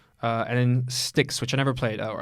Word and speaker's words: Styx: Wars 2 and in sticks which I never played or I think that's how you pronounce it is because it's like the River Styx shards of darkness never